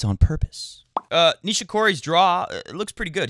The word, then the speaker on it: Nishikori: Nishikishi is literally what a guy I played tennis with some years ago called Nishikori.